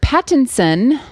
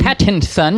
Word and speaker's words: Pattinson: batman now robert pattinson i want to make sure i enunciate that because it bothers me when people pronounce his name wrong so you'd rather people say it all crazy pattinson patent son content patents on spit all over myself so we'll just